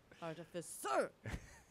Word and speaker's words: artificer: I almost want to put the emphasis on sir at the end, like. Artificer.